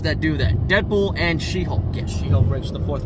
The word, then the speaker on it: She-Hulk: Wait, She-Hawks? No. You pronounced it wrong. She-Hawks. First was Jelly, now She-Hawks. Listen. It's She-Hulk. Say it with me. She-Hulk.